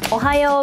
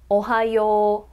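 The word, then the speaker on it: おはよう: It's more like ohayou, ohayou. When O and U are next to each other in this order, it's more like O-O, so ohayou.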